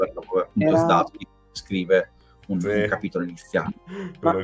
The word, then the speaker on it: Zdarsky: No, io non la dico, io faccio tipo Zdarsky, però cioè, mi esce, come se mi sveglio diversamente domani mattina lo pronuncio in maniera diversa.